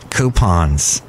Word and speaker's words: coupon: That's right, coupons. And that's how you say it, coupon. Like gray poupon, coupon.